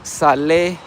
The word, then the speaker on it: Sale: It's called Salai but it is spelled sale in English like s a l e.